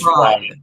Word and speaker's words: Fried: So the totally it's totally Our name our name's Fried the Yay. So it's just like Kentucky Fried Chicken. It's totally totally fried. Which a lot of people pronounce it fray, but it's fried.